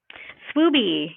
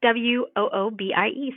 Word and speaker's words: Swoobie: How do you say it or spell it? Swoobie. Yeah, it's SWOOBIE.